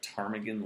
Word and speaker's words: ptarmigan: how to spell tarmigan it starts with a p you would never know that p is in paul t-a-r-m-i-g-a-n uh it is